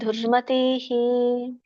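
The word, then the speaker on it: ದುರ್ಮತಿಃ: ತುಯಹ ಪಶ್ಯಕೃತ ಬುದ್ಧಿತ್ವ ನಸಪಶತಿ ದುರ್ಮತಿಹಿ ದುರ್ಮತಿಹಿ ಅಲ್ಲಿ ಎಳಿಬೇಡಿ ನಾನು ಹೇಳಿದೆ ಎಳಿಬಾರದು ದುರ್ಮತಿ ಇನ್ನೊಮ್ಮೆ ನೋಡೋಣ ಈ ಶ್ಲೋಕ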